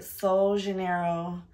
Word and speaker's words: Sol de Janeiro: today's video we're going to be discussing my soul Janeiro that's how you say it yeah soul Janeiro